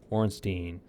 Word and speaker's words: Ornstein: And here's Dragon Slayer Ornstein. At least that's how I pronounce it.